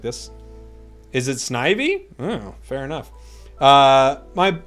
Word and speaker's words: Snivy: um here's what I'm thinking a gold leaf Snivy has a comment about uh conefe that people